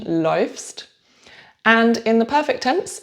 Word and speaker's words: läufst: Unusual pronunciation, läufst.